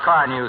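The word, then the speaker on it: Carnu: You just ask the boys at the station about Car New, Sarge. It's spelled C-A-R-N-U.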